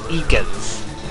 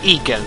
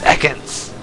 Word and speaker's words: Ekans: Stadium instead of Ekans it's eakins it's not Eagan it's Ekans the freaking announcer in